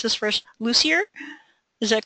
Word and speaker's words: Lussier: And for this evening's presentation, I'm going to introduce Angela, and I should have asked you how to pronounce this first, Lussier.